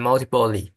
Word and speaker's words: multiply: Out your calculator and multiply. What? Multiply. Ply. Multiply. Multiply. Rhymes with sky and I.